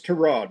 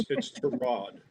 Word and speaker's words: Tyrod: It's Tyrod. Mr. Taylor's mother didn't name him after a car part. It's Tyrod.